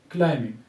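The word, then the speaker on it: climbing: Silent होने की वजह से हम कहते हैं कि these are silent letters and क्लाइंबिंग क्लाइंबिंग। अब ये देखिए बी को हमने इसमें साइलेंट किया है।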